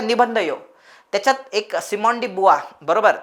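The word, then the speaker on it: Simone de Beauvoir: निबंध येऊ त्याच्यात एक सिमडी बुवा बरोबर तिच प्रोनन्सशन फ्रेंच असल्यामुळे बुवा अस प्रोनन्सिएशन केल्या जात तिच अनेक जण तिला बरवा अशा वेगवेगळ्या नावाने तिला हे करतात तिच प्रॉपर प्रोनन्सिएशन आहे सिमांडी बुवा सो तिने एक स्टेटमेंट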